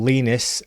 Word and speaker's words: Linus: This token is called Linus, rhymes with penis, and that's the whole the whole thing behind the token is this kind of Linus penis joke, if you like.